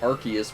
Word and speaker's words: Arceus: where someone corrected me on and said it's arceus because they changed the pronunciation because they don't want arse in its